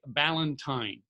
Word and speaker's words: Ballentine: guest speaking at blog and video con Jake Ballentine I got that right right Jake you sure did yes you did I mispronounced feels names all the time Jake I